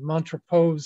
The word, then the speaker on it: Montrepose: He's buried over in Kingston in the, I think it's pronounced Montrepose Cemetery.